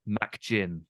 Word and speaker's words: McGinn: of my head is the way they pronounce McGinn. Right. They call him MacGinn. Okay. Right. So there's an emphasis on Mac, I think probably from McAllister. Yeah. So they don't say Muck, they say Mac, and then they called him MacGinn.